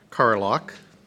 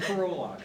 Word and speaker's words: Carlock: Carlock. Not bad, getting a little better maybe. Dr. Carlock I'm is... starting to worry if I've been saying it wrong. Now I have to... It's a Carolock, but...